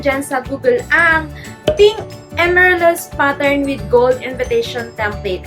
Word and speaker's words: Amaryllis: Sinerch ko pa kung paano siya i-pronounce dahil akala ko ang pronunciation nito is Amaryllis.